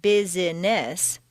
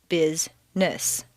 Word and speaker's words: business: syllables on page 18 some words appear to have three or more syllables but all of them are not actually spoken for example business is not Bess but rather Bizness just when you get